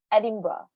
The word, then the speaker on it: Edinburgh: you edinburgh usually here in the uk people pronounce it edinburgh don't ask me why okay don't ask me